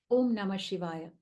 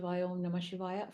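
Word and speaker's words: Om Namah Shivaya: give you an example om namashivaya five syllables we all go to a temple we might pass by a Shiva Temple and say om namash om namashay from childhood we've been conditioned to do that yes or no and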